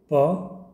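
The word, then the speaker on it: paw: जाता है ना ज है ना उसके बाद प औ पौ ठीक है पौ पी ए डब्लू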